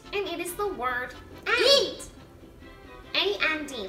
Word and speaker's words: y: it is the word eat. A-N-D, like, and this, and that. Now, the way you say that in Spanish is E. E. And it's just, you just spell it with one Y.